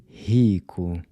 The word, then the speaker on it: rico: rico. And this name? Rafael. So the “r” is pronounced like the “h” in “hot” when it comes at the beginning of a word.